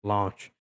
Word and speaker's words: launch: E outra coisa é com essa palavrinha sublinhado launch. Launch. Isso daqui não é para você confundir com lunch.